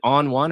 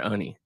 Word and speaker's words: Oni: Is it On One or Oni? It is Oni.